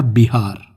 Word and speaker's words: बिहार: और इन विहारों से उस प्रदेश का नाम बना विहार और बाद में हो गया बिहार। क्योंकि बिहार और पश्चिम बंगाल के आज भी कई सारे लोग व को ब के रूप में प्रोनाउंस करते हैं।